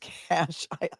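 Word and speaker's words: cache: come thank you Cheryl rescue puppy it is pronounced cash I'll I'll allow it Moon Goddess thanks for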